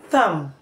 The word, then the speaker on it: thumb: subtle death doubt WR letter B can as well be silent after letter M in word finals for example lamb tum k womb thumb thumb climb climb Plum